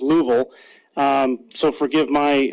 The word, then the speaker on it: Louisville: uh letting me know it's actually pronounced louville um so forgive my